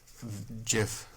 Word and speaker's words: GIF: Look at this GIF I sent of this duck.